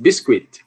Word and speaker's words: biscuit: Biscuit. Você não vai aspirar esse K.